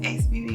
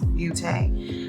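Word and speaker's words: Beauté: I believe it's pronounced Beauty. It might be Beaute.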